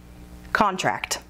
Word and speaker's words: contract: Contract has two syllables, and we are using it as a noun. So the emphasis is on the first syllable. Contract.